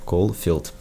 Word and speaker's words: Колфилд: Наконец-таки надо выговорить правильно. Колфилд.